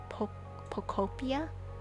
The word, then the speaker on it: Pokopia: It's supposed to sound like Utopia, but Pokopia. Like Pokemon and Utopia together, so Pokopia. I like calling it Pokopia more. Pokopia. She's building me an island on Pokopia, and she asked me